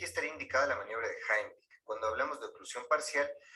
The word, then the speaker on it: Heimlich: Vamos a ver en este video la maniobra de Heimlich, que por cierto, esa es la pronunciación correcta porque está en alemán. La mayoría dice Heimlich, pero bueno, se entiende de qué se trata.